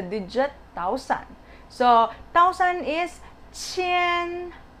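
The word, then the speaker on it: 千: thousand so thousand is chen chen so you can see the spelling is q so how do we pronounce q again so it's chi like the batchi so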